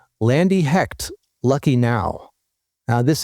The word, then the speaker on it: Lande: And if you've looked at her name, it's spelled Lande, but it's pronounced Landy.